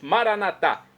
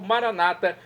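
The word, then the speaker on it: Maranatha: aramaico dialeto de Jesus maranat como dizemos nossos católicos ou Maranata como dizem nossos irmãos separados os evangélicos ou protestantes não importa pronúncia o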